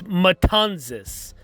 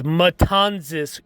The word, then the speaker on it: Matanzas: the republic and also the correct pronunciation of the town where he took his oath of vice presidency is matanzas it is matanzas cuba uh which is